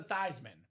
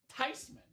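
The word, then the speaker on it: Theismann: It's pronounced Tyman." Tyman is the proper pronunciation. I told that story at my Christmas last year. My dad said, "Of course it's Tyman. That's a German name.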